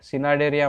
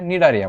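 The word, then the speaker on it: Cnidaria: सिनाडेरिया म्हणायचं नाही, त्याचे स्पेलिंग आपल्याला CNI दिलंय, सिनाडेरिया नाही मित्रांनो, त्याला सी सायलेंट लेटर आहे, निडारिया म्हणायचं, निडारिया.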